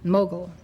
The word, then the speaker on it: Mughal: Mughal, You can see it on the screen. The spelling is Mogul, and this is the pronunciation, Mughal.